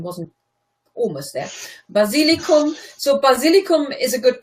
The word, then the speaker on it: Basilikum: The pronunciation wasn't almost there. Basilicum.